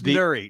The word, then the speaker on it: Nuri: He basically said nobody ever pronounces it correctly. I know, but it's Nuri.